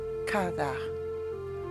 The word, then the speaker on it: kava: So that word for eagle is kava. Kava. Here again, that is kind of a hard word to say because you're going to use that pronunciation that I call clearing the throat, kind of sound.